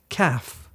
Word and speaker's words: ك: letter CF Jamal um remember we went through and we learned how to pronounce the letter the stronger one the one which is at the back of your mouth yeah so this one is CF it's a bit more forward it's it's a bit